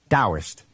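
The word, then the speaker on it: Taoist: So it's written Tauist and pronounced with a D. Dowist.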